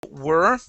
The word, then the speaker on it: we're: Where did we're go? Oh, okay, right here. So instead of were, okay, you'd pronounce this as if there was not an apostrophe there.